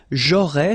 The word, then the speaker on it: j'aurais: J'aurais, so final S, not pronounced, j'aurais.